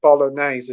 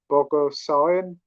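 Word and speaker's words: Bogosian: Mel Brooks yeah oh his name's not Eric Bolognese it's called Eric BOGO sayin again butchered his name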